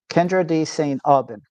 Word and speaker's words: Kyndra de St. Aubin: Today on the show, we're joined by one of the sharpest voices in American soccer broadcasting, Kendra D. St. Alban. Did I pronounce that right?